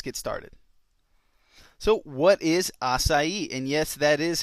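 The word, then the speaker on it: açaí: assai 101 let's get started so what is assai and yes that is how it's pronounced it's not aai or aai it's aai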